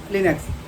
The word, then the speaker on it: Linux: Linux, pronounced Linux, is a family of